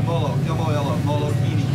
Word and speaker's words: Molokini: So this, you pronounce this Molokini? Yeah, Molokini, yeah.